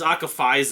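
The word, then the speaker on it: Akphaezya: circus prag metal band They pronoun the name is akafa it's it's spelled a k p h AE z y a it's weird spelling weird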